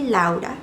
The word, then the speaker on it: Laura: My name is Laura. Well, it's actually Laa. That's how you pronounce it because I'm from Colombia.